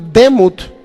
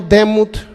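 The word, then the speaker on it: דמות: que se llama o se puede pronunciar Se podría decir demut en nuestro castellano demut obviamente son en el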